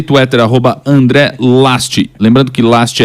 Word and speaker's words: Lajst: Insta e Twitter, arroba André Last.